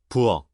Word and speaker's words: 부엌: The word for kitchen is spelled with a final, but that becomes a plain stopped K. 부엌, And the word for